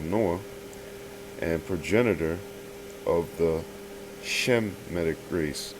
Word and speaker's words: Shemitic: and progenitor of the Shemitic race. Okay, Shemitic, not no Semitic and all the stuff that you're saying. No, okay, that's not even how it's pronounced.